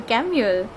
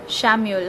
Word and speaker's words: Chamuel: And the angel that is corresponding to this crystal is Archangel Chamuel or Shamuel, however you would like to pronounce it.